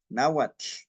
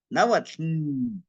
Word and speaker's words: náhuatl: aire a los lados para pronunciar el TL. Náhuatl. No es náhuatl. No es así.